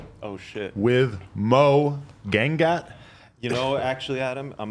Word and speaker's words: Gangat: with Moe Gangat. You know, actually, Adam, I'm going to give you the proper Indian pronunciation. I'm from India, by the way. Oh. It's Gangat.